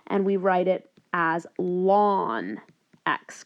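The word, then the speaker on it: ln x: notation as well and we write it as lon X K so again pronounced as lon X okay and I'd like you to go ahead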